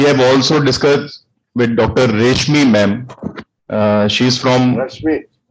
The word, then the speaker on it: Reshmi: Reshmi ma'am. She is from Rashmi, sorry. Spelling is RESHMI, but pronunciation is Rashmi.